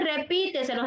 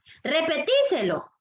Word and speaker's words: repíteselo: Y nosotros no decimos repíteselo, sino que decimos, perdón, repetíselo. Lo han escuchado, ¿verdad? Que así lo decimos, pero lo correcto en la gramática que debiésemos decirlo es repíteselo.